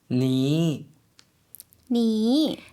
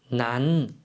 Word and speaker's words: นั้น: นั้น นั้น 조금 짧게 발음해 주시면 되겠습니다. 그래서 난이라고 발음을 해 주시면 돼요.